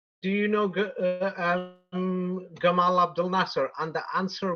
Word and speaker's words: Gamal: Jamal Abdul Nasser but I will use the Egypt Egyptian pronunciation because he was Egyptian and um the Arab hero um what you call it yes um what you call it Gamal Abdul Nassar he was Egyptian and